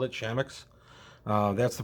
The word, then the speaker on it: Chamax: And I realize you could say Chamax, Chamax. You could pronounce it a bunch of different ways. We've always called it Chamax.